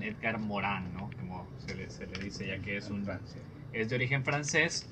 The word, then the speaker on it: Edgar Morin: de nombre edgar morin o si nos queremos poner apropiados con la pronunciación iker morán es de origen francés